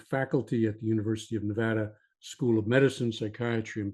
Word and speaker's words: Nevada: to us from Reno Nevada and I have to pronounce that one properly because my son lives there now and every time I screw up he corrects me so uh Nevada Tom is a psychotherapist